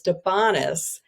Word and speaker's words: De Bonis: hard to pronounce, but people usually interpret it as French. So, it sounds like the way you pronouncing it is how you would pron pronounce it if it was a French name. It's actually Italian. And in the book, I talk about when my husband and I first met and I thought it was French and he said, "No, it's Italian." And it kind of rhymes with honest. So, it's donis.